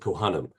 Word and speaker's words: Cohanim: org sure shortly after the conclusion of our conversation so today we have with us Ellie coim Ellie arrived as or she pronounced it coam I I wanted to